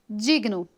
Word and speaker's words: digno: Digno. Essa consoante G é muda. Ela é G mudo.